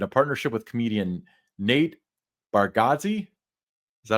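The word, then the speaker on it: Bargatze: Next up, Storyland Studios announces developing a new theme park concept in a partnership with comedian Nate Bargazi. Is that how you pronounce it? Baradski.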